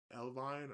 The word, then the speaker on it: Elvine: Elvin, Elvin, El, Elvine. I don't know how you say her name. Evelyn. I'm gonna just say Evelyn. Nah, it's not Evelyn. It's Elvine.